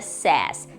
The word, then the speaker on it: says: Quando ele vai para a terceira pessoa do singular, no presente simples, ele vira says, ok? Ele muda um pouco a pronúncia e vira says.